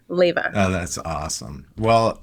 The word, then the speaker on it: Leyva: A lot of people want to say Levia because of the way it's spelled and they think the V is for the A. So, you got it absolutely correct, Leva.